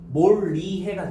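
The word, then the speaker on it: 몰이해: 그래서 그 영향을 받아서 최종 발음은 뭐가 됐어요? 몰리해가 됐어요. 됐나?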